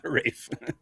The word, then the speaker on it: Ralph: Rafe.